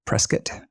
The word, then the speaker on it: Prescott: Prescott flyer presc flyer sorry presc there if I can say it like an arizonan um who said to